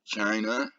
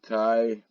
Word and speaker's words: chi: So here, China, right? Chi, Kai, however you want to pronounce it, right?